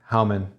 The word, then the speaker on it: Hauman: I hey Bruce Bruce how how do you pronounce your last name hman hman uh this I say howman that is correct that is correct howman is the correct pronunciation and uh yeah yeah